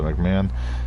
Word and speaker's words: McMahon: Donnie McMahon, that's how you pronounce it, McMahon.